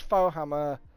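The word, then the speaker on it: Faux Hammer: If you go and click, if you use Fohammer, as it's spelled, F-A-U-X Hammer at the checkout, there's $200 off.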